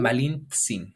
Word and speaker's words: Malintzin: a donde fuera, pero los españoles no sabían pronunciar Malint. la TZ, ese Malintzi. término y lo trasladaron a Che y entonces Es por eso Malintsin. Malintzin.